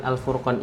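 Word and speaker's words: الفرقان: Nah, jadi harusnya yang saya baca, harusnya untuk kalimat Al-Furqan ini dia dibacanya tebal. Kenapa? Karena ra sukun sebelumnya hurufnya berharokat dhammah. Nah, harusnya al-fur bukan al-fur.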